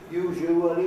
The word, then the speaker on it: usually: That is a mid-Victorian pronunciation. It's been dead for 100 years, that usually with 4 syllables. It's usually with 3, and the middle syllable would be a schwa or a gu, usually, or more often still, usually 2 syllables, usually.